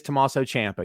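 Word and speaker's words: Tommaso Ciampa: right and by the way i love you pronounce his name correctly because no one says his name correctly it is tommaso champa you're 100 right so you're one of the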